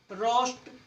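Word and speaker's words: roast: Next, जब ओ के बाद ए आए, जब ओ के बाद ए आए, जब भी ओ के बाद ए आओगा तो ए साइलेंट होगा। रोर, रोस्ट, रोम, ओ के बाद ए आया हुआ है तो ए साइलेंट।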